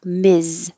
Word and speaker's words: Ms: misses and number five is just the m s as a title miz and so you also